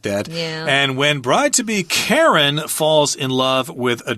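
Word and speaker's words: Karyn: So Karen walks into the boutique here. Karen, her name is spelled K-A-R-Y-N. Karen is usually spelled K-A-R-E-N. Yeah, but this is a popular spelling of Karen in England.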